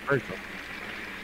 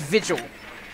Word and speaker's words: Vigil: They have a Virgil. I mean, Vigil. Virgil. It's Vigil.